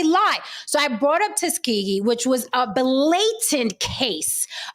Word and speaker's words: Tuskegee: Tuskegee.